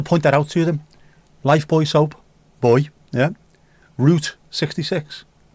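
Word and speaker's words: Lifebuoy: Even though they pronounce it Life Boy, because they know it's Life Boy.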